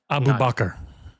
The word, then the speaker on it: Abubakar: record as well, uh we've all been saying Abubakar's name wrong. I know. Yeah. Ursil, let us know. Abu Kasalim. Abu Bakr. Abu Bakr. Yeah, that'd be the way. That was the normal way you say that name is Abu Bakr.